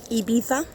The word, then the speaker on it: Ibiza: Ibiza. As they pronounce it.